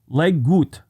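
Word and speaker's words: leg godt: He invented the term Lego, which came from the Danish word leggut, meaning play well. I think I pronounced that right, but it's L-E-G, looks like leg, and then G-O-D-T.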